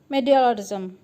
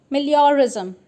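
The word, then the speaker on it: meliorism: Effort is known as मीडियोरिज्म। मिलियोरिज्म, मैंने इसका pronounce गलत किया था इससे पहले, मिलियोरिज्म।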